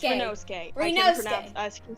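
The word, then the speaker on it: Ryunosuke: Rinozuke? Rinosuke. Rinosuke. It's Rinosuke.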